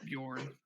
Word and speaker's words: Bjorn: you know very simple traditionally that name is pronounced bjorn bjorn i can't even say